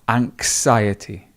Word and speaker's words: anxiety: So not anxiety, it's anxiety. So can you hear that really soft anxiety, anxiety, anxiety.